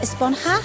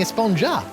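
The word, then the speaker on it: Esponja: been about huh actually it's pronounced espanha with an h sound at the end really but we've all been saying espongja yes i know it's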